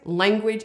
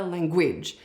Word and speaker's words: language: The word language. It is always language, it's never language.